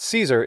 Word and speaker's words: Caesar: going to care but i do care if you think that caesar is wrong because it's not that's the standard pronunciation in english cicero same deal well